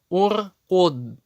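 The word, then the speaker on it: اركد: Если третья буква огласована даммой, как это первый столбик у нас, значит в таком случае хамза туль-васль всегда читается У. Уш-дуд, ур-куд, унзур.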